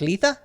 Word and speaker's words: Litha: Is that pronounced Litha?